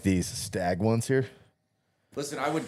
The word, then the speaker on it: Stagg: Staggy ended up with. Right. Many, many bottles of stag. I mean, You gotta say it right though. Remember, it's stag.